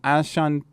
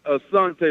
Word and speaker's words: Asante: Next, let's run to, is it Ashante? Yeah. How do you say your name? It's Asante, like the tribe Asante, of yeah, right. The tribe of Asante, yeah, aka by your roots.